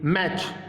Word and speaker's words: match: TCH, यहाँ देखिए, जहाँ पर भी TCH एक साथ आ जाए, TCH, तो वहाँ पे CH को च पढ़ेंगे और T को साइलेंट कर देंगे। कहीं पर भी जहाँ पर भी TCH एक साथ आ जाए ना, तो T को साइलेंट कर दो और CH पढ़ना ही नहीं, च पढ़ना है। देखिए, मैच, मैच में T आ रहा है, MATCH, तो T को साइलेंट कर दिया, मैच पढ़ दिया।